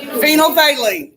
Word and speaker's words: phenolphthalein: this happening is silent I know it's a weird word that pH is silent they leave phenolphthalein it's a liquid okay